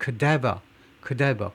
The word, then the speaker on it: cadaver: search teams, 수색팀이 지금 뭐 하고 있냐면 with cadaver dogs, cadaver, 이 단어는요 액센트에 주의하셔야 돼요. 저거 자꾸 틀리는데 cadaver가 아니라 cadaver, corpse라는 말이에요.